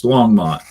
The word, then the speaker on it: Longmont: but wasn't sure if I remembered how to pronounce it. It's Longmont, right?